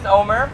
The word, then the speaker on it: Nomar: hey my name is Nomar you know wanted to know how to pronounce that is Homer without the H I just want to